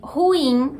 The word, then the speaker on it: ruim: Muita gente fala ruim, sendo uma coisa só. Já existem algumas fontes que aceitam as duas opções, mas a maioria ainda prefere ruim com 2 sílabas.